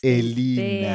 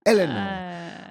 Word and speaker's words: Eleanor: Oh, You decided to have an English name, so we calling it the way the English would call it to pronounce it, Eleanor, but Elena. Okay, that's fine.